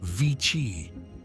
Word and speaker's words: vixi: You might think it's just a mix of Roman numerals, but it's actually a Latin word, pronounced VICI.